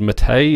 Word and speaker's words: MATE: gome 3 was going this mate or as in I think it's called mate is the proper pronunciation that is uh this